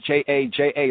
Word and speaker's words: ja: scriptures we know that in german the j is not pronounced as a j sound it's pronounced as a ya sound it's pronounced as a